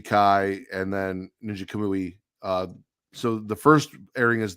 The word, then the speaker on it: Kamui: So the lineup is looking like Ninja Kami. I don't know how to say it. It's Kamui.